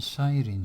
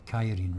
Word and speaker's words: Cyrene: can recruit them in Cyrene, so or Kyrene rather. I think that's what's pronounced the C as a K, I think.